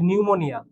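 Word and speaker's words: pneumonia: আছে তো আমরা কি এখানে এইচ উচ্চারণ করি উচ্চারণ কিন্তু করি না ঠিক একই ভাবে আমরা যদি তোমাকে আরেকটা বানান বলি যে নিউমোনিয়া সো নিউমোনিয়া বানান কিন্তু এরকম দেখো পি এন ই ইউ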